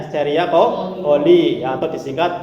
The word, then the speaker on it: Escherichia coli: Iya, terus di dalam usus besar nanti terdapat bakteri Escherichia coli ya, bacanya Escherichia coli ya, atau disingkat E.